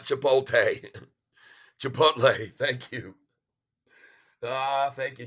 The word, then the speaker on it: Chipotle: near range Dave S superat hey Tyler it's pronounced a chip oh Chipotle Chipotle thank you for letting me know not chipot Chipotle thank you ah thank you David Casey dressle